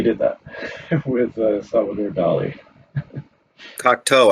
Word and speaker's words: Cocteau: Cocteau, I think is how you say that name, by the way.